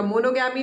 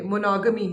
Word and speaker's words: monogamy: तो monogamous या monogamy का pronunciation पे ध्यान दीजिएगा, monogamy नहीं है ये, monogamy है, monogamy, right?